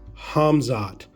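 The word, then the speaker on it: Khamzat: has Hazmat cosmot but someone told me the K is silent it's hamzat I said it right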